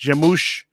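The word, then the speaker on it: Gêmeos: So it's called Jamouche, Gemeos, and it's I believe it's pronounced Jamouche. I've been looking up online. Supposedly that's what people are saying. It's Portuguese for twin.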